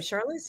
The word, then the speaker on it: Charlize: Charlize?